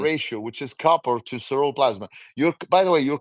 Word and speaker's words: ceruloplasmin: That or Ceruloplasmin.